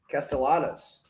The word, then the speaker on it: Castellanos: I did hear today that he pronounces it non-Spanish. Castellanos. He's one of the Castellanos folk.